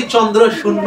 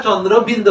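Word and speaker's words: চন্দ্রবিন্দু: বয় শূন্য র, যেটা কোনোভাবেই চন্দ্র শূন্য হয় না, চন্দ্র বিন্দু হয়।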